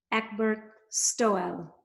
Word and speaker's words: Egbert Stoel: welcome my friend ekberk stowell from netherlands did i say that like an